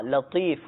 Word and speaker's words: یا لطیف: یا لطیف یا لطیف، لام تو یا فا، لطیف اس میں تو ہے، بعض اوقات صحیح تلفظ جن کے نہیں ہو پاتے تو وہ لطیف کو لطیف پڑھ لیتے ہیں، یعنی تو کو تا میں بدل دیتے ہیں، تو صحیح تلفظ ہے یا لطیف۔ یہ 100 مرتبہ پڑھنا